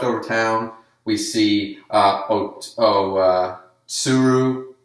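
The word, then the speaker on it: Otsuru: town we see hope Oh suru because they don't really pronounce the t's not to Saru it's sue I guess Oh soon anyways o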